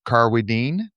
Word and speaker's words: Carwardine: We are speaking with Professor Richard Carwardine, which rhymes with strychnine, which I should have known because I watch Perot all the time.